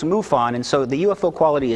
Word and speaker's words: MUFON: side by an n and it is never pronounced mufo on it's pronounced mufon and so the ufo quality is diminished okay